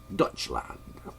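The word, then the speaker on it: Deutschland: called Germany uh there's a German pronunciation for that that's like Dutch land I don't have that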